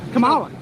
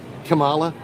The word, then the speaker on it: Kamala: Kamala. No, it's Kamala.